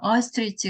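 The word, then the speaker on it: ostrich: OST하고 RICH 이게 스펠링이 같이 이렇게 있는데 발음이 조금 잘 익숙하지 않으실 거예요. 어스트리치 그래갖고 이 원래 뜻은 타조예요.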